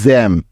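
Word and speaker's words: gem: লক্ষ্য করে দেখো, এখানে জি এর পরে ই আছে, তার মানে এখানে জি এর উচ্চারণ করতে হবে জ এর মতো।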